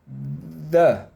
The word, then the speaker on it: the: Tem um sonzinho meio que parecido com a letra D. Parece um D, não parece? Quem estuda espanhol normalmente acha muito parecido com o D espanhol também. O D argentino, por aí vai.